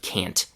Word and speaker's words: can't: You see, when native speakers pronounce the t- sound, especially at the end of a word, they often let the air build up in their mouths, but then don't make that explosion.